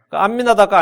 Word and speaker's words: 암미나답: 암미나답과 아미나답은 히브리식 발음과 헬라식 발음의 차이고요.